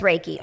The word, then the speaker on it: Reiki: I think it's Reiki. I should know that, but it's Reiki.